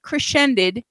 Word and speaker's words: Crecended: This is a band that I'm going to pronounce it crescended, even though it is spelled Crecended. There's no S in there, but I'm still going to call it crescended.